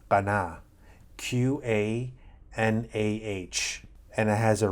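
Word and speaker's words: קנה: It's pronounced qanah, Qanah, and it has a range of meanings.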